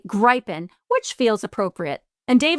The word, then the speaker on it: Gripen: Because I've been to Sweden, and I think this is how they would say it from my experience in Stockholm with a long I.